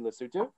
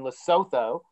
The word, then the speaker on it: Lesotho: which is the facility right here called mgmc lesotho it's based in lesotho but it's pronounced lesotho and so lesotho legalized cannabis in